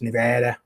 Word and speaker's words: Nevada: you go out to nevada it's nice and dry out there it's just hot as hell you know says i said nevada wrong it's nevada she's from nevada so